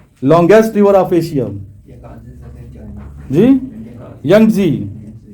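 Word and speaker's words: Yangtze: جی ینگزی، تلفظ صحیح ہے، ینگزی ان چائنا.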